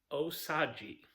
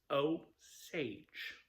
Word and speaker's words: Osage: I have heard multiple times on YouTube videos where people have pronounced it as oaji. Oaji, which unfortunately is not the correct pronunciation. It's oage.